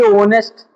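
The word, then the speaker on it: honest: अब एक देखिए ऑनेस्ट।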